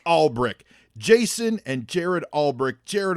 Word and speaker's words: Alberich: like i'll be rich and how do you pronounce it all brick all brick jason and jared albrick jared albrick you're a